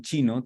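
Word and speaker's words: 經: nein que está en chino tien un caracter que es el carácter de Chin así se pronuncia chin en primer tono eh pero el texto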